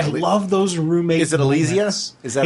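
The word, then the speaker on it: Alysia: Is it Elysia? Is that how it's pronounced?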